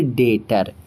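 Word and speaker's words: debtor: But rule क्या कहता है कि अगर आपका टी से पहले बी है तो बी को मत पढ़िए। सीधे टी को पढ़िए। तो हम इसे पढ़ेंगे डेटर।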